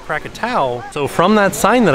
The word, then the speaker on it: Krakatau: Krakatau. Fun fact about this volcano is a lot of people think that it's called Krakatoa, but it's actually pronounced Krakatau.